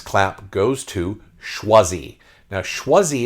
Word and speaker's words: Choisi: Now, Choisi is the French word for chosen, but they spell it not the French way. It's almost the South African or North African way. It's Chwazi, Choisi.